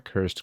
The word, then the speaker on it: cursed: I'm off to see a man about the cursed grandfather clock. It's cursed, not cursed. The extra syllable makes the stuff seem fancier. You can add at least 2 zeros at the end of the price tag.